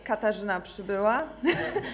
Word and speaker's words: Katarzyna Przybyla: Yeah, I know that it's very hard to pronounce. That's Katarzyna Przybyla.